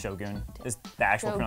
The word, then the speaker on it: shogun: It's pronounced Shogun.